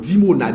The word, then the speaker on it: Dimona: Iran lancé sous dimona dimona comme ça se prononce dimona i m là dimona